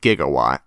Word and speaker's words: gigawatt: Although gigawatt is actually a scientific term, although it's pronounced gigawatt.